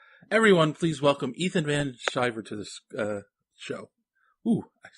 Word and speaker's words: Sciver: they're afraid to make that C hard, like Sciver. They go Sciver, and Sciver. So, hello. Yeah, well, I mean, that's, I think it's the Anglo-Saxon in me that wants it to be a soft C.